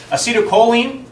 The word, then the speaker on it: acetylcholine: Acetylcholine, that's how you pronounce that, glutamate, dopamine, norepinephrine, and serotonin.